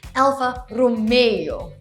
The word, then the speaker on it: Alfa Romeo: It's not Alfa Romeo, like from Romeo and Juliet. It's actually al-fa ro-MEY-oh.